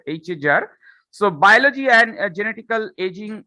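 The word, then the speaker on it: HAGR: Okay, the pronunciation will be HAJAR, not GR, HAJAR.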